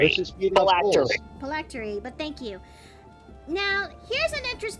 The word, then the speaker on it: phylactery: to lure wayward souls to feed the Lich's Plarity. Oh yeah! It's pronounced phylactery. Let's just feed off souls. Phylactery, but thank you.